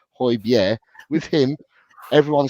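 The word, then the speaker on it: Højbjerg: and I spelled that corre I said that pronounced that correctly hoier with him everyone said he was he was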